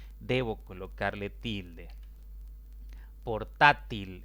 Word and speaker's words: portátil: Portátil es otra palabra de 3 sílabas. La mayor intensidad cae en la penúltima sílaba y como termina en otra consonante que no es ni N ni S, debo colocarle tilde.